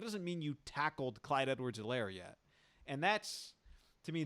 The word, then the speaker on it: Edwards-Helaire: mean you tackled clyde edward zelaire yet and that's to me those are the combinations age of silent h is silent uh ellen did it